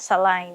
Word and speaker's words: saline: there's a vial that you just connect it to Saline Back in Saudi, I pronounce it SAH-LINE in here, you should pronounce it as SEY-LIN so that's it, everything